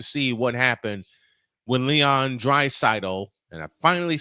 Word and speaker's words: Draisaitl: But y'all have to see what happened when Leon Draisaitl, and I finally said it right, even though Droid said it right all last night.